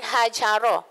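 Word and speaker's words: هجر: Ejaan dia menggunakan huruf ha, ha bulat tu, ha simpul. Bukan ha yang pedas tu. Kalau ha pedas tu dia ubah makna dah. Jadi hajara, ha jim ra.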